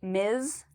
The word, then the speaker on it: Ms.: Before I answer this, I just also wanted to point out the pronunciation of MS. It actually has a a zed sound at the end. So you'll hear me say miz.